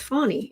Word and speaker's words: Fani: Now, apparently, Fani Williams in Georgia, her name, although it is spelled Fanni, it actually is pronounced Fani, is from what I've heard.